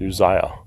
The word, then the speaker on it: Uzziah: Sorry, I think it's pronounced Uzziah, king of Judah.